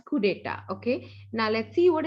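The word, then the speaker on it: coup d'état: It's not coup d'etat, okay. It's being stated as coup d'etat, okay.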